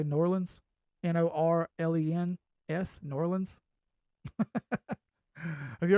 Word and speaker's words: New Orleans: uh Ronan says say New Orleans that's New Orleans New Orleans we don't say no Orleans because I'm not actually from there so I say New Orleans n-o-r-l-e-n-s New Orleans have